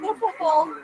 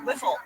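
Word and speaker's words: Wiffle: what I'm talking about I said it's not wle ball it's so spelled with an i w i how often are you writing W Whiffle whiffle ball whiffle ball oh good God okay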